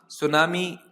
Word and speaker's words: tsunami: सुनामी को English में सुनामी कहा जाता है। बस याद रखने वाली बात यह है कि इसकी स्पेलिंग में सबसे शुरू में टी आता है, और ये टी साइलेंट होता है, TSUNAMI।